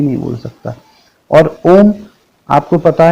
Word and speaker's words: ओम: वो है ओम, और ओम 3 शब्दों से बना है, आ, उ, म। इन तीनों शब्दों से मिलकर ओम बना है। का सही उच्चारण होता है आ जो है वो गले से निकलता है, उ जो है ओष्ठ